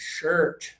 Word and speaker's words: shirt: Uh, uh, uh, like early and Thursday. It's shirt, okay?